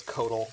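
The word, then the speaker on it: Coatl: of Modern, Ice Fan Quaddle, unplayable, so... And yes, I know it's Codal, but I refuse to not pronounce the letters in that word. It's not an English word, so I guess I am being insensitive.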